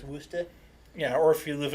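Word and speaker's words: Worcester: an American it's Toronto kind of like if you spell it it's Worchester but if you live there it's woosted yeah or if you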